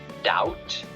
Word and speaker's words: doubt: and it's pronounced but the other words have a b written but it's not pronounced so it's silent then in number three